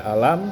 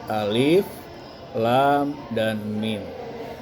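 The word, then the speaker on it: الم: Jadi bukan dibaca alam tetapi alif, lam, dan mim.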